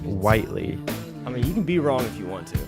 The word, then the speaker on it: Whiteley: We were having a debate earlier about do we pronounce it Whiteley or Whitley, but apparently it's pronounced Whiteley.